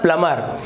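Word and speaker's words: plumber: जब भी लिखेंगे तो आप वहां पर बी तो लिखेंगे लेकिन उच्चारण नहीं होता है, तो ये होता है प्लमर।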